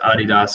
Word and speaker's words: Adidas: But yes, it is pronounced Adidas on the global side in America. We have always called it Adidas. Fortunately, they don't look down on us too much when we do say Adidas.